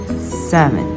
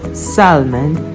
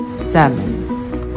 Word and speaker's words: salmon: knowledge okay next is the letter L or it can be silent you like could shoot talk walk yoke half-caf and salmon not Salman but salmon just like that again